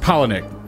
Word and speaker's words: Palahniuk: Chuck's last name is pronounced Palahniuk. Palahniuk.